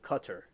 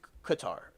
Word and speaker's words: Qatar: invented like you know what it's called cutter. It's like cut her. Is that what we're going at here? Cut her. But no, it's Qatar. That's what we say.